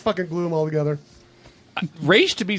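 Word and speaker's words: Ra's: If you are part of the League of Assassins, you say Raish. As a sign of respect, the proper way to pronounce it.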